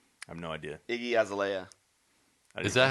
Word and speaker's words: Azalea: Iggy Azalea. Is that how you say it? and Iggy I- Azalea, right? Azalea, there you And go.